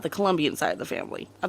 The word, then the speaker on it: Colombia: right about one thing there is no you in Colombia there is a it is spelled c-o-l-o and the only thing